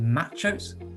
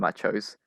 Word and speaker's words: MACHO: are machos i mean they might be pronounced just m-a-c-h-o but i'm just gonna call them machos just to make it easier and macho stands for massive